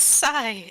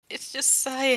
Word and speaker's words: Sai: Like, it's Sai. It's just Sai. How is this so hard for people? It's like I get not knowing how to spell it, but it's just the first 3 letters of Psyche.